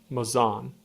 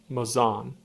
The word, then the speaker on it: Mazon: the state of Illinois, a guide to pronunciation of towns and villages. Mazon. Let's hear that again. Mazon.